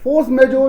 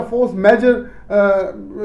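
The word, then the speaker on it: force majeure: है फोर्स में जो फोर्स में जो या फोर्स मेजर से आप प्रोनाउंस कर सकते हैं तो यह फोर्स में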